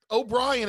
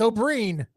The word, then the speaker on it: O'Brien: It's not Brian the first name.